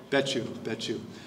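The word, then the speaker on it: Becciu: that Cardinal Bukow, I believe is how it's pronounced. What is it? Betchu.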